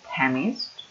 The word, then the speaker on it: chemist: Well, chemist is a person, and the pronunciation is the first one, chemist.